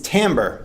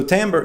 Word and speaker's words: timbre: Slightly different from that is timbre. And some people pronounce this timbre, but I always heard that it was timbre, and perhaps either is correct.